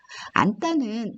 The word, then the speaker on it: 앉다: 일단 니은 지읒은 아니라고 읽기로 했으니까 이것은 안따입니다. 이것은 언따입니다. 안따는 니은 지읒의 이 안따는